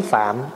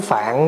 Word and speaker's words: Phạm: Mà mình bây giờ mình nói gọn lại là tiếng phạn đó. Mình nói tiếng phạn đó, chứ nếu mà nói phát âm cho đúng phải nói là tiếng phạm.